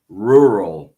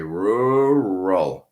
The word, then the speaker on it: rural: What happens is we say rural. So curve a little bit, let go, and then curve again. Rural.